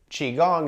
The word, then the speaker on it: qigong: try one of those chi gong classes cheese spelled differently there this is chi chi gong is spelled q-i-g-o-n-g which is a little bit different all right one of